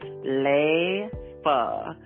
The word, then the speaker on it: Leifa: Her name is pronounced Leifa, Lay-Fuh, phonetically.